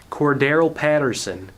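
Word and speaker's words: Cordarrelle Patterson: Like there was one play to Cordero Patterson. You got to say his name like that, otherwise you're going to not say his name right. Cordero Patterson.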